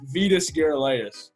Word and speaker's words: Vitas Gerulaitis: and that's the second one you might have pronounced better it's Vitas Gerulaitis but you didn't get it pretty good day